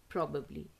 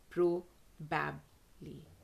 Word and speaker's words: probably: find the sound transcribed in the dictionary proably probably and not pro babbly probably wrong probably correct then another word which